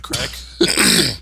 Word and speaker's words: craic: I'm pretty sure Stephen King also does crack rock cocaine.